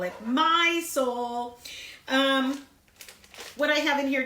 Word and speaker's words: Mysol: here cuz it says it rhymes with mice all that famous cleaning product you use but I can't say the word so I'll just call it my soul what I have in